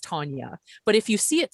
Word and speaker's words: Tanya: our names and for me my name is tanya and it's pronounced tanya but if you see it spelled it's t-a-n-y-a and i have often be been called tanya